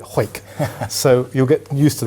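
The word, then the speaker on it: Hawick: actual Mill is uh from hoyk which is actually spelled like a Harwick but they call it hoek so you'll get used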